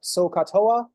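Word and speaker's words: SOHCAHTOA: doing s cosine tangent you could also abbreviate it SOA s o c o c a t o a so that's usually pronounced SOA I don't like that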